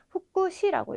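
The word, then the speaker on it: 副詞: 근데 요건 좀 독특하게 후쿠라는 발음을 가집니다. 그래서 뭐 부사장님 이런 거 하실 때도 후쿠샤초라고 해주셔야 되고 또는 뭐 부사, 우리 동사, 품사 뭐 이런 거 할 때는 부사 같은 경우에도 후쿠시라고 읽어주셔야 됩니다.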